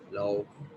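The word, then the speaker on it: 楼: तो यहाँ पे सेकंड टोन एल, इसके साथ हम कनेक्ट करेंगे तो ये किस तरीके से प्रोनाउंस होगा, लाओ.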